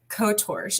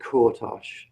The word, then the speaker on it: Kortosh: pleasure to introduce uh kotorch is is that am i completely mispronouncing your name kind of my stage name this is cortos okay um ripper is